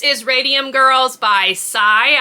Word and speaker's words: Cy: Coming in at number 6 is Radium Girls by Cy, I believe is how it's pronounced, C-Y period.